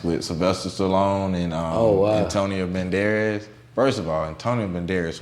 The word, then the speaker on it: Banderas: Assassins with Sylvester Stallone and Antonio Banderas.